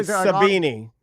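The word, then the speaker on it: Sabiki: Sabini is what it's is how it's pronounced.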